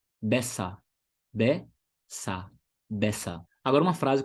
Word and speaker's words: besser: Uma outra palavra que termina com ER e ER no final com som de A. Besser.